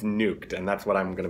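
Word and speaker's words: Nujwk: He says it's nuked, like nuked, like get nuked. And so I mean it's going to be interesting on the cast who calls him what, but I believe it's nuked, and that's what I'm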